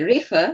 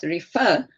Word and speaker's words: refer: uh Sy very good so you don't say refer but refer and plus that other